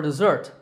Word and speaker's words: dessert: can ask what's for dessert now as for me I love having chocolate cake for dessert notice the way that we pronounce these words both of them have a Z sound in the middle the difference is in